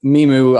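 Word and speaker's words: MiMU: educate us but the meemo gloves yeah so right yeah and look i i i uh memu i think was the pronunciation i've heard from imogen heap but like something to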